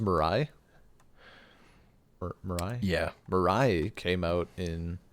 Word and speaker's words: Mirai: Largely because he had, is it pronounced Mirai? Mirai?